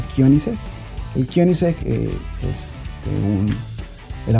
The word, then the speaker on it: Koenigsegg: que se pregunten este vehículo sueco que nunca lo he escuchado pronunciar bien en ningún canal ni en habla inglés y en español se pronuncia kion el kion es un